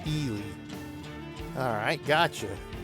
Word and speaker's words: Ely: miles then they want to take the right Ely is that how you pronounce it Ely used to live in Nevada nice see Tracy has a gallon thanks for joining me today so Ely so it's pronounced Ely alright got you this thank you for